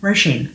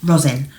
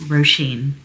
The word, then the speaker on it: Róisín: It is Róisín. And it is also not Róisín, as a lot of English people like to say. It is, the stress is on the first syllable.